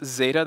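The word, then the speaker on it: Xata: at a database company this is Zeta that's X ATA data with an X and and being the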